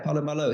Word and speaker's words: Paulo Malo: Do you pronounce that Palo Malo or Palo Malo? Yeah, Paulo Malo.